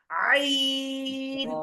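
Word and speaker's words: ع: আমরা হা চাপ দিয়ে পড়েছিলাম ঠিক সেভাবে আমরা উচ্চারণ করব আইন আইন আইন আইন আইন আইন আইন আইন কারণ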